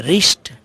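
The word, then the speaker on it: wrist: अर्थक कनपटी से कि रिस्ट डब्ल्यू आर आई एस टी यहां डब्लू जो है साइलेंट है इसे रिस्ट पड़ते हैं रिश्ता थक कलाई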